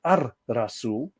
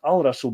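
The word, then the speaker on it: الرسول: of course the prophet al-razul is pronounced as ar rasul not al rasool because don't forget that's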